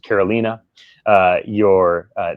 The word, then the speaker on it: Carolina: You know, your name is pronounced Karolina.